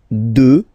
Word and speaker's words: deux: Deux. Final x not pronounced, okay.